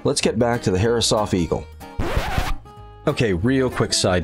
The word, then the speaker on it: Herreshoff: But Halsey was giving a speech saying that his name, the family name, was properly pronounced Herreshoff.